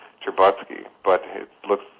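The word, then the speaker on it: Stcherbatsky: there's an academic named uh his name is pronounced cherbotsky but it looks it's a russian name it's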